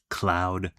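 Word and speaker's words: Khloud: I see Cloud Popcorn spelled K H L O U D.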